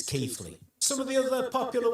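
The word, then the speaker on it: Keighley: People sick of it being referred to as Keley. And yes, I know that local pronunciation might be a little bit different, but officially it's Keithley.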